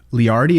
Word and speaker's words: Leardi: So House of Harm, it's you and Cooper Leardi. Is that how you pronounce their last name?